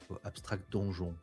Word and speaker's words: Abstract Donjon: Abstract donjon. Ça s'écrit à la française mais ça a l'air de se lire.